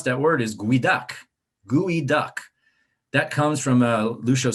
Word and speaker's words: geoduck: that word is guidak gui duck that comes from a lucho seed language and then american tribe and um although it's not spelled like it sounds that's how you say it so this is another